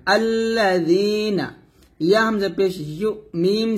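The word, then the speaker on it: الذين: না লাগে নিচে লাগাই আমরা এই জালটা উচ্চারণ করি। তো অবশ্যই আপনাকে জিহ্বাটা উপরে দাঁত লাগাতে হবে, পাতলা করে লাগাতে হবে। আল্লাযীনা, নুন জবর না, আল্লাযীনা।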